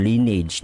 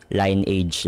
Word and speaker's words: Lineage: Kung babasahin mo kasi ng literal line age yan no? Linage pero ang pinakatamang pronunciation is lineage.